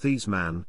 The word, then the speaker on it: Theismann: name was actually pronounced this man recounted in 2007 that it was not redeemed publicity man roger valdizzeri who insisted that he change the pronunciation of his name to rhyme with heisman but he finished second